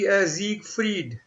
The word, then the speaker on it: Siegfried: Now notice the difference in the pronunciation between Heinrich and Siegfried. Okay, just this is E. This is pronunciation is Siegfried. Siegfried, right? And here was ich or ish. Yeah. Right? Heinrich. Ish and Eid, right?